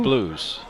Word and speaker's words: Blues: but ben blue did that's where he pronounced his last name blues ben blues he made a nice